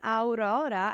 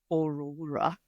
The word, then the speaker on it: Aurora: I'm so happy Lewis can actually pronounce my name. I'm Aurora and not Aurora.